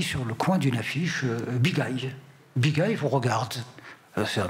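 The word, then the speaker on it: Bigaye: Voilà, donc Bigay, ça s'écrit B-I-G-A-Y-E, mais à l'oreille on entend Bigay.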